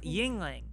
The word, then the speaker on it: Yuengling: Yingling. A Yingling. that is. Yingling. What's a Lingling? Yeah. Yingling is a local beer. Yingling. And it's spelled like Anyways.